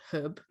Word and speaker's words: Hwb: and um I'm gonna I'm gonna say it's pronounced herb which hwb but I think it's called Herb in um Narberth in Wales